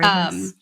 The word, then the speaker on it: rooibos: Can you tell me how to pronounce that? Rooibos. Yeah, rooibos.